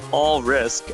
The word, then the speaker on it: Alrysc: Kind of hard to hear the difference there, but yeah, Alrysc actually did use all risk as the pronunciation guide, and just told us straight up that's how you pronounce it.